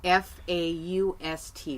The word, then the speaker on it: Faust: that for the people F a UST we call it Faust ok that's the pronounced ination of Faust I just wanted people